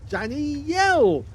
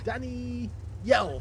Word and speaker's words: danijjjel: Roba this one is under the command of Danny yel yes I've actually found out that it's actually pronounced slightly differently Danny yell that's it I've got it right now okay